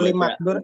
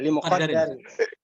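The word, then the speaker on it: لِمُقَدَّرٍ: Yang benar gimana? Ya limuqaddarin. Limakdarin gitu. Limuqaddarin.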